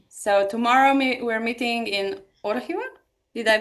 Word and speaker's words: Orihuela: Yeah, so tomorrow we're meeting in Orihuela. Did I pronounce it right?